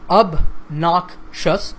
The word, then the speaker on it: obnoxious: person's obnoxious behavior now this word has 3 syllables up knock shuts and the stress is on the second syllable so obnoxious obnoxious so